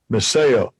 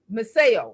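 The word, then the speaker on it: μισέω: The word is pronounced Miseo. Strong's G3404, Miseo. Okay, Miseo.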